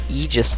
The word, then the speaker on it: aegis: 2 weapon breakdown this time it is the aegis device a special weapon in the energy category and yes i did say that right it is the aegis device um that took me a little bit